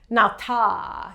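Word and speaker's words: natā: So you would pronounce it nata. You would give it a little extra ah.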